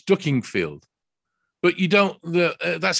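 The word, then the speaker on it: Dukinfield: the the person that's saying it is saying duking field you come to our store in duking field and i said it's ducking field but you don't that's how you pronounce it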